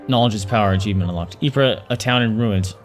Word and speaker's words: Ypres: is power achievement unlocked Ypres a town in ruins dubbed wipers by British troops due to its difficult pronunciation wipers that's funny yep the Belgian tower eeper was a key strategic position